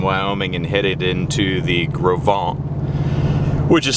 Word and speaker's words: Gros Ventre: are leaving jackson wyoming and headed into the gravon which is spelled g-r-o-s space v-e-n-t-r-e you'd almost want to say gross venter but it's pronounced the gravan and this is the gravant river uh you maybe just see right there